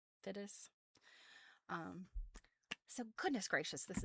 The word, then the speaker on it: Fiddes: Her last name is spelled Fiddes. Fides.